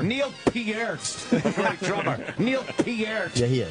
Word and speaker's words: Peart: How do you say it this week? It's Peart. I've never said Peart. Neil Peart. Canadians fucking say. You got to throw a little French in there.